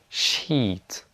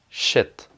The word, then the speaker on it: sheet: Donc il y a peace, beach, sheet, et il y a piss, bitch, shit. Donc ça, il faut pas dire.